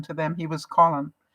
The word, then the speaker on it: Colin: and friends he wasn't colon to them he was colin he pronounced it the english way i didn't know that